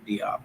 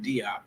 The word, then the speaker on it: Diop: Some of your listeners may be familiar with Sheikh Anta Diop, or some might hear the pronunciation Sheikh Anta Diop, Yeah. but it's Yeah. actually Diop.